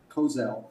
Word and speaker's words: Kosel: Uh that concludes my comments other than I would like to clarify for the uh record my name is pronounced Kosel long O and my title is Dr.